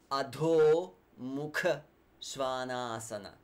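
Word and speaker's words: adho mukha svanasana: sounds or the mukha svanasana and downward dog auto mukha svanasana auto mukha svanasana again at all so the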